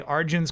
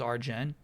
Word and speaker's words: Arjun: Just want to say you pronounce Arjun correctly as Arjun. Some say it does Arjen. No, no, no. Like it's it's all over SOAS. They say Arjun many many times.